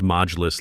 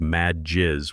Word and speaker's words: Majlis: She pronounced Majlis like mad jizz, which if you know Arabic sounds like she's talking about angry bodily fluids instead of a council meeting.